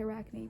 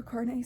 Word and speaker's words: Arcane: Yeah, for some reason I always want to say Arachne, but that's not right. Her Arcane series.